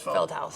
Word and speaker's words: Feldhaus: Is that pronounced right? Feldhaus? Feldhaus.